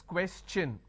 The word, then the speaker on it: question: Here, what happens is, instead of saying question, I can't say question because tion is sh sound. No. When I have the word question, the tion becomes ch-n. So it becomes question.